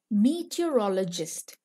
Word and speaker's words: meteorologist: Meteorologist. Say it like this. Meet, your, all, o, gist.